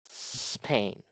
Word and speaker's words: Spain: We if you say Spain Spain it will be incorrect because this E sound is not pronounced only the S sound.